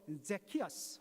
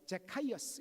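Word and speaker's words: Zacchaeus: 영어로 제키어스 혹은 제카이어스 이렇게 발음을 하기도 하는데, 여러분들, 삭개오가 누굽니까?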